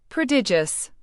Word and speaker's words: prodigious: Prodigious. Pronounce it as pro-di-j-us. The first syllable is a soft proo. The second is a stressed di-j like the start of digital and the last is as like the word us.